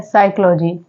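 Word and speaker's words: psychology: जो पी आ रहा है वो यहां पर साइलेंट लेटर है हम लोग क्या पढ़ते हैं साइकोलॉजी ऐसे ही नेक्स्ट वर्ड है साइक साइक में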